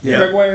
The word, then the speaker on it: Gregoire: Gregoire is how you say it.